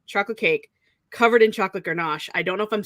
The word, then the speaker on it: ganache: cake, apricot jam, chocolate cake covered in chocolate ganache. I don't know if I'm saying it right. I think it's French. Ganache?